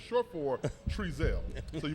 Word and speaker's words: Trezelle: My nickname is Tree, and it's short for Trezelle. So you pronounce my name Trezelle, but somehow on the internet, House Cat is out there.